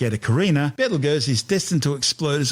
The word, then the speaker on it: Betelgeuse: It's a red supergiant called Betelgeuse, better known to most people these days as Betelgeuse.